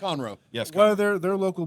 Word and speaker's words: Conroe: I met someone today that's from Conroe, how's it pronounced? Conroe.